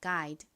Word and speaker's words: guide: 지난 시간에 집중적으로 설명드린 것처럼 이렇게 GU가 연달아 나오고 뒤에 모음이 나오는 경우 보통이 U가 묵음으로 소리가 나지 않는다고 말씀드렸죠. 그래서이 앞부분의 발음이 구가 아니라 G의 기억 소리만 납니다. 그리고 여기서 I는 I 소리로 쓰였고요. D는 디귿 소리 소리 나고 끝에 E는 헛깨비로 소리가 나지 않으니까 guide라고 발음되죠. 따라해 보세요.